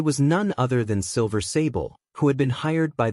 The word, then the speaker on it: Sable: It was none other than Silver Sable, who had been hired by the mayor, Norman Osborn. "Hey, Sable, long time no see," Miles greeted cheerfully. "My name is Sable, not Saber," she replied, slightly irritated by his mispronunciation.